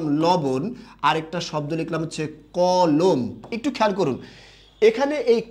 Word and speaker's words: কলম: যে আমাকে একটি কি কলম দাও কলম নাকি কলম কলম শেষের ম টা কিন্তু আমরা উচ্চারণ করি না ঠিক আছে সবাই কথা